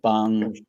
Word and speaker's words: Bong: pronounce the Parasite director Uh, the correct way? what did you say? It's Bong.